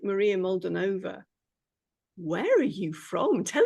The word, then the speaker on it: Molduvanova: with Maria now I'm probably gonna say your surname wrong so I'll let you say it please Maria mold molden NOA right Maria molden NOA who is based in